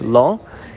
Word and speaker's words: לו: It's written Lamed Aleph, like not, lo, but it's pronounced Lamed Vav.